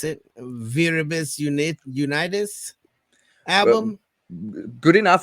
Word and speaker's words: Viribus Unitis: Has I personally was really diving into the I'm gonna mispronounce it Viribus Unitis Uh, album. Good enough. Like we would say with the Austrian or the German pronunciation, we would say Viribus Unitis, but I guess with